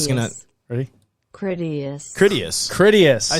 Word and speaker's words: Critias: Okay, Joe Critias. is gonna ready. Critias.